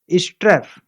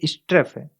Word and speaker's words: strafe: स्ट्रेफ स्ट्रेफ स्ट्रेफ को दोस्तों वर्ब के रूप में यूज किया जाता है। इसका उच्चारण एक बार और देख लीजिए, स्ट्रेफ। ये स्ट्राफ नहीं है, ये स्ट्रेफ है।